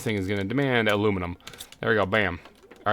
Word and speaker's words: aluminium: this one will be aluminium corre I believe is the correct way to say the English way uh and this thing is going to demand aluminum there we go bam